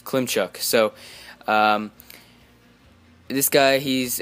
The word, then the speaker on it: Klimchuk: This guy's name, hard to pronounce. It's like Klimchuk. It's Klimchuk.